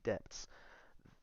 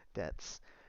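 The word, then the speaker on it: debts: of large and heavy depths I don't know why I pronounced the b in there Debs they have abandoned a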